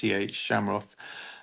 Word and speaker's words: Schamroth: So it's just if you just type in my name, Shamroth, which has got a really weird spelling, but you pronounced it very well at the start. It's Oh, thank you. Schamroth, Shamroth.